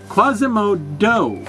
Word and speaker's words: Quasimodo: many other masks is spelled with a D no not at the beginning that would be daimo that would be stupid just listen yeah Quasimodo you see m o o with the word mod in there but this particular version